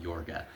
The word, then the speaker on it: Yorga: It's spelled y o r g a on the DVD case here. His name is Count Yorga, like i o g i o r g a in the movie.